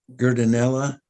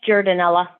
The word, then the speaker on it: Jordanella: Paul um uh gerdinella did I pronounce that correct I'm sorry yeah it's jordanella jordanella um yeah thank you